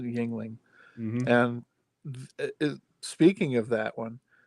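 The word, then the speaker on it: Yuengling: start spelling stuff yeah and i think they pronounce it yingling and speaking of that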